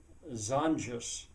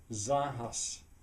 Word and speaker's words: zanjas: area at which place I use the Spanish word zanjas. In Spanish, it would actually probably be zanjas, but I pronounce it in an English way because it would be too hard.